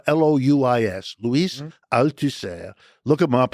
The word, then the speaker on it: Louis: Louis, the Louis is spelled L O U I S.